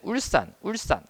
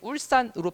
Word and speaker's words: 울산: 자, 그런데 마지막에 울산 같은 경우에는 울산 이거는 울산 이렇게 발음이 되잖아요. 그렇죠? 된 소리로 사실 발음이 되죠.